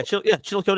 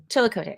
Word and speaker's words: Chillicothe: How do you pronounce this? Chillicothe? Oh yeah. Chillicothe is correct. Yep. Chillicothe.